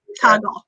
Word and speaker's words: Toggl: So how do you spell it? T-O-G-G-L. T-O-G-G-L? Mm-hmm. Toggle.